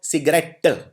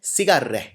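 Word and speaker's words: cigarette: लोग प्रोनाउंस करते हैं इसको सिगरेट। टै ट पे जोर मारते हैं। लेकिन इसको बोला जाता है सिगरेह। हम टी पे कम जोर देते हैं बोलते वक्त।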